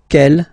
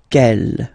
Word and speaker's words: quel: Quelle, masculine form here, will be pronounced exactly as the feminine form here. Quelle. So only one sound, okay?